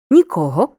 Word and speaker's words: нікого: з різним наголосом порівняй якщо займенник указує на відсутність будь-кого чи будь-чого наголошуємо другий склад нікого нічого нікому нічого ніким